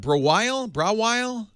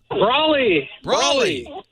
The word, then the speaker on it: Brawley: How do you say that? Brawile? Brawley. Oh, Brawley, of course.